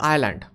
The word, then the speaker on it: island: to the spelling like sometimes like Island the ace is silent it's not a phonetic